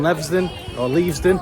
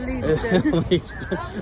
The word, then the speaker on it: Leavesden: And Leavesden, however I know you pronounce it, Leavesden, is getting an expansion over the next few years, and it will be the official home of Netflix.